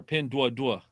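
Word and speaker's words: Pinduoduo: uh Affiliated company and it's pen Doo duo or pin du Dua is how they say it um and very good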